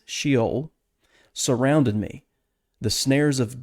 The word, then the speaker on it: Sheol: old testament it is from the hebrew word s-h-e-o-l or sheol as we would pronounce it and it has a variety of